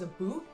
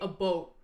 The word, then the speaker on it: about: nearby though see a the common stereotype is that can adans will pronounce about about as as a boot but they don't no no no you want to know how they pronounce it they say A boat like think of boat a boat that's that's that's how I hear it from most people